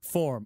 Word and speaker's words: Fourm: Form. Okay. So, I've been saying it wrong. If if that annoyed you, I apologize. It's form.